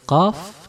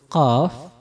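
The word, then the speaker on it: ق: Jadi kalau qaf naik lidah kita, kalau kaf turun lidah kita.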